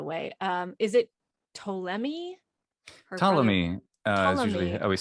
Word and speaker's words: Ptolemy: um is it tolemy ptolemy is usually i always say his name in english okay and it's spelled with a it starts with a p good old silent initial p in english yeah i just like